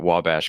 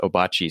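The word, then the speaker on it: Ouabache: like my mom used to call it wabash because she was like a nerd about this kind of stuff but everybody was just like what are you talking about it's obachi state park oh it's spelled o-u-a-b-a-c-h-e or something like that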